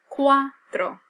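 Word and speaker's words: cuatro: your spelling ofto and here the pronunciation quto versus the number four which is Quatro Soto all right now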